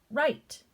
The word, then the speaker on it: write: cross that out and sound it out er right as in what we're doing right now silent